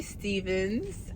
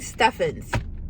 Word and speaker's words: Stevens: I was literally saying her last name wrong this entire time, and no one corrected me. I was saying Steffens, because like the way it's written, I thought of like Curry Steffens, you know?